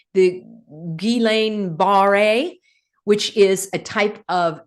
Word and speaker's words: Guillain-Barré: and I want to give you the correct pronunciation, the Guillain-Barré, which is a type of temporary paralysis.